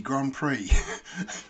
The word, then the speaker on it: Grand Prix: And they said, it's pronounced Grand Prix. But obviously with an X, it looks like Grand Prix.